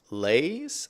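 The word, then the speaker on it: leis: Lei is spelled L E I S. Lays.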